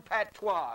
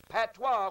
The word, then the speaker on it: patois: PA T W a that is a French word he said they all had their own dialect or patois which in most cases